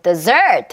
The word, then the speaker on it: desert: 그럼 desert 하고서 뒤에다가 강세를 줘보는 거죠.